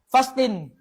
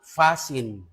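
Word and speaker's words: fasten: Fastin. Hindi yan fasting, hindi. Dapat abasa dyan silent T. Silent T. Magiging fasin.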